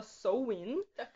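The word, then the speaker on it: Samhain: um festival Celta chamado sowing que ele se escreve S A M H A N com eles também mas se fala sou o hino e outra coisa que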